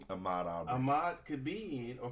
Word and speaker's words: Ahmaud Arbery: I think it's pronounced Ahmaud Arbery, but I just say it Aubrey, but it's Ahmaud Arbery.